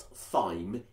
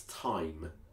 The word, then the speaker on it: thyme: It's not thyme, it's thyme. Poor Frida, if ever you sing this in public, then please remember that it's thyme.